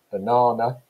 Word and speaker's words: banana: It's got three syllables in it, banana. So the stress there is on the second syllable.